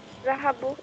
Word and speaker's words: ذهبوا: ذهبوا, they went. The subject is the vowel. The alif after the vowel is not pronounced.